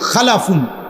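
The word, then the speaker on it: خَلْف: হল খালফুন আরেকটা হল খালাফুন একই শব্দ শুধু উচ্চারণের মধ্যে একটু ভিন্নতা। মাঝখানে একটা লাম আছে। এই লামটার মধ্যে যদি সাকিন হয় তাইলে হল খালফুন। আর যদি লামের মধ্যে জবর হয় তাহলে হল খালাফুন।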